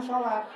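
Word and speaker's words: صلاة: Seluruhnya tulisannya ditulisnya begini, assalawat." Asalawat tapi dibacanya salat.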